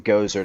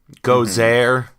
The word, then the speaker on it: Gozer: sure go sure yeah there's many pronunciations you got your Italian your goat sir and your your your and Oh Lucien where they say go thir you know you've got Gaza for your Texans and you know that's